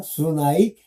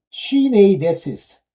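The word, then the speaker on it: συνείδησις: 자꾸만 저는 이걸 D로 발음하는 경우가 있어요. 두 이렇게. 근데 아니에요. 요게 N자입니다. 수나이데시스. 이게 D자예요. 자, 쉬네이데시스.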